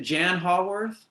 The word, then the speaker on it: Jann Haworth: Is it Jann Haworth? Is that how I pronounce it? Yeah, you got it.